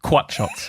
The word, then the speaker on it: croissant: cut shots that's that he makes quat shots it's the the French pronunciation God I mean it's